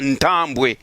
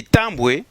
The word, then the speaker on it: Tambwe: La localité de Tambwe, ici je ne prononce pas Ntambwe, la localité de Tambwe est située dans le district de Ruhango au Rwanda.